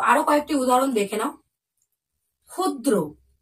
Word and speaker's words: ক্ষুদ্র: কয়েকটি উদাহরণ দেখে নাও ক্ষুদ্র দেখছো একদম কিন্তু উচ্চারণ খ এর মত হচ্ছে বোঝা গেল দেখো ক্ষুধা